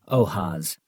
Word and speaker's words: OAS: The Andrew Melvin interrogation footage, AMF, pronounced ath is infamous among the conspiratorial community of old house archivists, OAS, pronounced ohas.